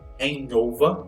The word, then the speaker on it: hangover: Hangover, pronúncia hangover. Essa daqui é a pronúncia, não é hangover, não pronuncia o G, mas como se fosse um NH.